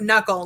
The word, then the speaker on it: knuckle: n words so um knowing that the k is silent will be super helpful for you okay application we are